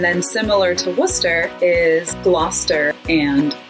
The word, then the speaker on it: Gloucester: And then similar to Worcester is Gloucester and Leicester. They both have that CES combination that Wooster does that you kind of just smoosh all together.